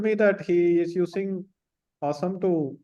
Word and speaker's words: OSOME: I think it's pronounced Awesome, but OSOME is the brand name.